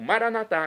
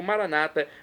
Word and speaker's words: maranatá: E agora eu clamo maranatá, como dizemos nós católicos, ou maranata, como dizem nossos irmãos separados, os evangélicos ou protestantes. Não importa a pronúncia, o significado é o mesmo.